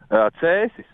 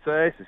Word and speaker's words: Cēsis: Cēsis. Sounds silly, Cēsis.